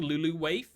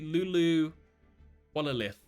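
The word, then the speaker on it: Luluwalilith: I'm saying Luluwaif, but it's actually Lulu Wallalith.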